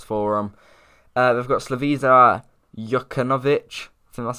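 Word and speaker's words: Slaviša Jokanović: of a loss for them uh they've got slavisa yuckanovich so that's how you say his name as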